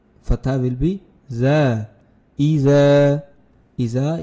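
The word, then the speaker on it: إذا: Iza is elongated there just a little bit due to the Alif.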